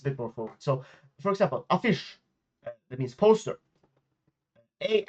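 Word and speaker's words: affisch: So for example, a fish that means poster.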